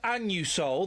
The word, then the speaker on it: Anusol: Listen, when I go in and buy my Anusol, that's how it's pronounced, I say it loud and proud.